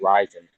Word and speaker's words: Ryzen: or like correct yeah it's not risen it's rising okay all right jimmy